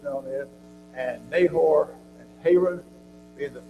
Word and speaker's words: Haran: Terah took Abram and Sarai and Lot and moved up from into Haran, or Haran is pronounced sometimes. We do call it Haran.